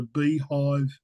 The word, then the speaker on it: B-hyve: This is a beehive unit, B-HYVE is how it's spelt.